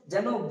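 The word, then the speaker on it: زاي: সঙ্গে বলুন যা যা এটা নিচে বা উপরে যে সামনেকার দাঁত আছে দুটো দুটো দুটো চারটে সেই দাঁতের কাছ থেকে উচ্চ চরিত হবে যা।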